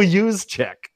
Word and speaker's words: Juszczyk: It's Kyle Juszczyk. And I'm pronouncing his name correctly.